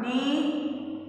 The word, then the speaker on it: knee: First one, knee, knife, not, now. ये के के सब में आया है बच्चों, ये के है ना silent word. The letter K is silent.